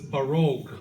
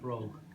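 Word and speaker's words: barróg: You might not be able to see it, but it's Baroque. Oh, Baroque is is is the accent. Baroque. Okay. Okay. All right. not broke. If it's not broke, it's baroque is is more correct.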